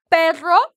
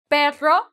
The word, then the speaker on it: perro: excellent EXC first animal perro perro now you have a double r right the Double R the rolling R A lot of people